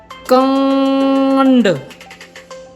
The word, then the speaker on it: कांड: एक चीज़ का विशेष रूप से ख्याल कीजिएगा, नाक से उच्चारण होने में कुछ शब्द ऐसे भी हैं जहाँ पर लिखते समय हम चंद्र बिंदु का प्रयोग नहीं कर पाएंगे। जैसे हमने अभी एक शब्द बोला कांड, कांड, कांड।